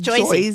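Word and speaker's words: Jersey: Like It's Joyzy. Joyzy.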